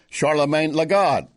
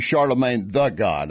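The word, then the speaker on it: Charlamagne tha God: of the same program charlemagne lagotte charlemagne lagotte is saying he's saying that this was not i think it's actually charlemagne the god i think i mispronounced that but he's the one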